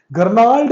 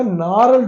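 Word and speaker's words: gnarled: का तरीका होता है गर्ल्ड नहीं होता नार होता है क्योंकि जी साइलेंट होता है कुछ वर्ड आपको पता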